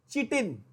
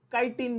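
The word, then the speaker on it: chitin: कुछ ज्यादा पढ़े लिखे लोग इसको काइटिन भी बोलते हैं, दैट इज फाइन, ठीक है। CH को वो के प्रोनाउंस करते हैं, दैट इज फाइन। चिटिन भी बोल सकते हो, काइटिन भी बोल सकते हो।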